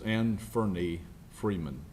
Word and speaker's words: Anferny Freeman: Yesterday afternoon, investigators with the Sheriff's Office served 6 warrants on Anferny Freeman, and the pronunciation is Anferny Freeman.